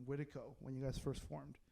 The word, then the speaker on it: Witiko: Probably like actually a more accurate way to pronounce Witiko would be like Witiko, but we just have kind of just hard K'd it.